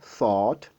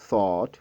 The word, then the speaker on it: thought: Alors, ici, vous voulez bien baisser un peu votre mâchoire inférieure. Oui, mâchoire inférieure. Donc, vous produisez un peu le son A, thought, thought.